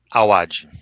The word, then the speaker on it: Awad: Também convidar a todos, @Tomás_, como é que se pronuncia para não errar aqui? Awad. Awad, AWAD, aí as mídias sociais do nosso querido